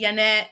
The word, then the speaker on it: Janet: i'm like yeah but my mom calls me yanet you know in spanish because that's how she pronounced it so that's how she